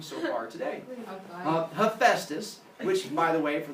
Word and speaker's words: Hephaestus: Now, the first two letters of the word phone are PH. So, hopefully, if you've seen a phone, you're like, it makes a f sound, just like in Hephaestus, it makes a f sound, so it's pronounced Hephaestus, not pronounced Hepatitis, where it sounds like you got a stroke halfway through saying it.